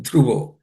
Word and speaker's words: ध्रुवो: Jatasya dhruvo. This dhruvo, the dha is the fourth letter in the th class of consonants. It has to be aspirated. Dhruvo.